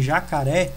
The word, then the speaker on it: jacaré: Percebem, jacaré, o ré é a sílaba mais forte, por isso que ela possui ali o acento.